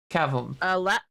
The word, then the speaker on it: Cavum: How do I pronounce that? Cavum.